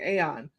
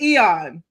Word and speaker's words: Aeon: Um and and thank you for correcting me on that because I kept saying AON because in my mind it was like AON Flux, but yeah. Yeah. But it's Eon.